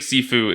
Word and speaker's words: Sifu: Is that the right pronunciation? Yeah, it's Sifu, yeah.